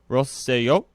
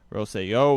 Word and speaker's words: Rosselló: There's an accent on the O, so I think it's Rosselló.